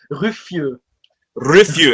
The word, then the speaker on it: Rüffieux: It's like Ru Rifu. Is that French or It's French, but you write it in a German way, so a lot of people are confused.